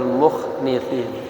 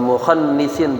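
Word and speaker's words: مخنثين: sutra-sutranya, min sya'nin nisa'i wal mukhnithin, ya, wal mukhannisin bacanya.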